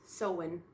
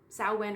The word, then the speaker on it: Samhain: There it is, pronounced Samhain. Samhain or Samhain.